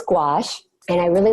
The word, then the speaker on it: gouache: love adding gouache and I say gouache most people don't actually know how to pronounce the word so it's G oh you ACAT it's a French word and people will see